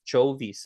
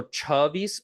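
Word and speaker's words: છવ્વીસ: I've heard people pronounce it as Chovis as well. So Chavis or yeah, Chavis or Chovis.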